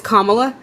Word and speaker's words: Kamala: quickly just really quickly it's kamla I think no it's fine I just think it's really important that we pronounce her name right I do I do